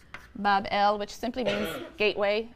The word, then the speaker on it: Babylon: him a magnificent shrine or temple in Babylon pronounced Bob L which simply be a gateway of the god